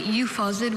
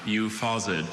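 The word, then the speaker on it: euphausiid: Okay, euphausid, were there any alter pronunciations, or is it just the one? I have just the one, euphausid.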